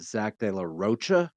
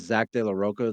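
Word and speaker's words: de la Rocha: they I actually heard somebody pronounce it Zack deoa I know him as Zack de laoka the lead singer of Rage Against the Machine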